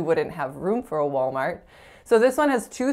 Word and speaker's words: Walmart: where they simply wouldn't have room for a Walmart so this one has two syllables and the first syllable is wall so